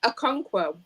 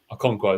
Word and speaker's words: Okonkwo: I mean, no, I can't pronounce his name, so I'm not going to probably try and embarrass myself. It's Okonkwo. Okonkwo, there we go.